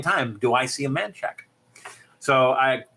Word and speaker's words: Manchaca: How do you spell that? She says, Manchaca. And I'm like, that's Manchaca. That's Manchaca. And she says, no, it's man shack. So I would have found it the first time if I was looking for Manchaca, but I was looking for a man shack. And so that's how you say it.